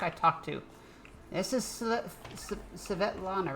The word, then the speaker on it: Svetlana: Yes, Svetlana. I can't say it. Yes, that is how that is pronounced.